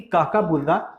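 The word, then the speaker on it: Kookaburra: ठीक है, तो उसी से हम याद रखेंगे कि काकाबूरा, कोकाबूरा को हम काकाबूरा भी कई बार बोलते हैं, जब हमें प्रोनाउंसिएशन में दिक्कत होती है तो हम कई बार काकाबूरा भी बोल देते हैं।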